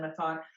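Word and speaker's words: Méthot: name of course mathon I but but everything's linked on my website so um is that my thought.ca um and the last name is m-e-t-h-o-t yes I'm pronouncing it in English that's a whole story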